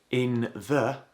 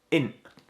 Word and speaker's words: in't: Notice again, we don't pronounce that t. It's not int.